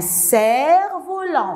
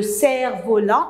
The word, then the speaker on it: cerf-volant: Un cerf-volant. Je ne prononce pas le F. Ils font le cerf-volant ou bien ils font voler le cerf-volant.